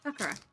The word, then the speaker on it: Sakura: Sakura. No, Anne taught us that they don't emphasize syllables.